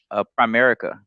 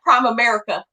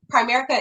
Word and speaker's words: Primerica: there are a lot of rumors about Primerica, and first of all, what I always hear is that Prime America thing, because people pronounce it correctly.